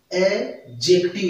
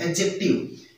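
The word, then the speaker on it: adjective: है, तो उसमें कभी डी का उच्चारण नहीं होता, डी का उच्चारण होता है, डी साइलेंट रहता है, जैसे इसको बोलेंगे एडजेक्टिव, यानी डी का उच्चारण नहीं करना है, एडजेक्टिव।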